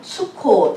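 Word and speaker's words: סוכות: 히브리어 발음으로 하면 수콧 이렇게 하고 Feast of Tabernacle 또는 Gathering 이렇게 쓰더라고요.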